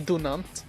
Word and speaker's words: Dunant: Henry Dunant. I think his name is pronounced as Henry Dunant.